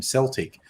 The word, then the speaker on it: Celtic: who knows the O the only Celtic is the football team which is super weird but that is how they pronounce their football team's name Celtic and that's and I